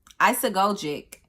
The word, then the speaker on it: isagogic: Isagogic. Isagogic. It's spelled Isagogic.